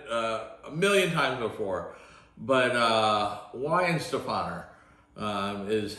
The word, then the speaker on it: Weihenstephan: So if you see any of these, this is always a tough one to pronunciate, but it's a Weihenstephan is how you pronounce it.